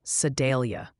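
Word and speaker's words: Sedalia: Also, the Sidelia fan club wanted me to tell you it's pronounced more like Sidelia.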